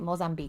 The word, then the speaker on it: Mozambique: in Malawi and neighboring Mozambique. I'm saying that right. Mozambique. Yeah, I would say it like that.